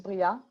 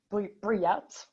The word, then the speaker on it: Briat: is it's and the last name is bria briet like the americans say y'all real i'm french